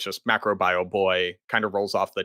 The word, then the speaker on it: MacroBioBoi: That being said, no one can pronounce it because it looks like it's just macro bio. When everybody reads it for the first time, they say macro bio.